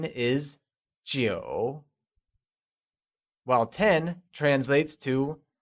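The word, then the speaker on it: 九: 9 translates to jiu and is pronounced with a falling, rising tone.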